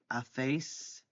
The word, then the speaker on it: hacéis: Hacemos, hacéis, with the accent on the E, and hacen, they do or they make.